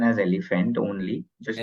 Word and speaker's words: EleFant: It's a very simple pronunciation as elephant only, just like what एलिफेंट you only.